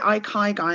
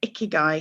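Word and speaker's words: ikigai: a little model now i call it ikai guy and i know some people call it icky guy so i'm not quite sure if i'm pronouncing it right or just uniquely but i've got a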